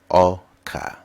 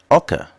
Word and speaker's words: Ọka: e words and phrases today's EA word is Oka Oka means con now let's learn how to say